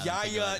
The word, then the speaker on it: Yaya: Yaya Dyabi. Yaya. His first name is spelled Y A Ya.